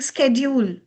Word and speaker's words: schedule: Nowadays, people are very cool saying schedule. No, it's not schedule, sweethearts. It's the very old schedule. Stick to schedule.